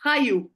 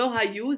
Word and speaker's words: חיו: Alors, il me manque juste la prononciation, c'est Chayou. Le Hayou, c'est Oui, Chayou. חיו, Chayou. c'est vrai. Parce que la façon que tu as dit, on dirait חיו, c'est c'est le Hayou, verbe ça veut dire vivre.